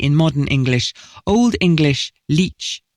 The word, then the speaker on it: lic: Completely unrelated to both latcher meaning doctor and latcher meaning leech, the Old English word for body is, coincidentally, pronounced leech.